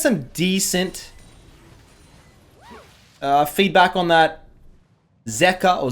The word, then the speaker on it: Zeka: feedback on that Zeka or Zika. See... I looked up Korean pronunciations, and a lot of the Koreans said Zika, so I went with Zika. But people tell me, dude, pronounce it Zeka.